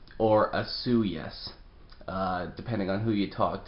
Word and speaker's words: Osoyoos: is that it's pronounced asuyu's or asu yes depending on who you talk to um but one thing's for sure there is no soy in fact in my